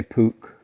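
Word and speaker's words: Puch: and uh husqvarna and how do you pronounce this one pooch yeah well that's why i pronounce it i think people say pook okay yeah and um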